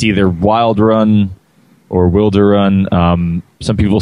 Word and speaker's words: Wilderun: Well, we usually call it Wilderun. That's how we pronounce it.